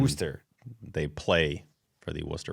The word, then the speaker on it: Worcester: Why don't none of the guys can pronounce Worcester? They all say Worcester. And Worcester.